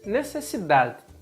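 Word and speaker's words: necesidad: necessidade e sem necessidade lá no final nessa de pronunciada como se ela fosse um de mudo de muita gente conhece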